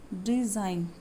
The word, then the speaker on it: design: The letter D and G is silent. design, ठीक है।